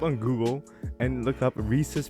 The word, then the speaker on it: Reese's: If you look up on Google and look up Reese's pronunciation, it's Reese's. Here, I'll even spell it out. Is it actually? I'll spell out the pronunciation for you. Reesuhz. That's how you pronounce it.